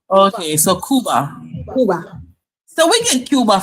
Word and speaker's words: Cuba: Kuba. Not Cuba.